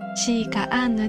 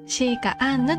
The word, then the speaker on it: 紫陽花アンヌ: アジサイアンヌと書いてシーカアンヌと読みます。